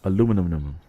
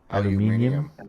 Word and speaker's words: aluminium: Aluminum. How do you Brits say it? Aluminium. Aluminum. Aluminum. Americans say aluminum.